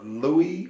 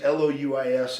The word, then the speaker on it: Louis: he got to me, he said, Louie Wilson. And the name is Louis, and I had never heard that pronounced as Louis. I thought that was Louie, but people take liberties with the name.